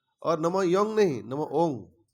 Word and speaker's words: ओम: वो कहते हैं राग में आ जाता है, बाकी तो है ओंग। लेकिन दूसरे स्टेट के लोग योंग कहते नहीं, बंगाली लोग कहते हैं, बंगला का असर होगा, बाकी वो योंग नहीं है, नमो ओंग। नहीं तो उच्चारण गलत हो रहा है।